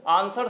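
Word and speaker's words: answer: है जो साइलेंट है एक्चुअल में हम लोग जब भी आ ये आंसर लिखा हुआ है लेकिन हम लोग बोलते हैं तो आंसर बोलते हैं ना ठीक है आंसर तो बोलते नहीं है ठीक है आंसर करके तो नहीं बोलते हैं ना तो इसमें साइलेंट क्या हो गया इसमें साइलेंट जो है डब्लू डब्लू का कुछ पता ही नहीं चल रहा इसलिए इसको साइलेंट कहेंगे तो यहां पर आंसर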